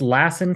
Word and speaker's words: Lassen: to pronounce it correctly is it l or Lassen yeah it's Lassen County and I I hear it both ways so thanks for asking